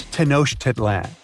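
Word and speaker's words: Tenochtitlan: It's tenoshedlan. And Mayan cities are hard to pronounce too.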